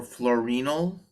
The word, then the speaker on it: fluorenyl: It stands for fluorenyl, not fluorine the atom, but fluorenyl. It's spelled exactly the same way, except there's an E instead of an I.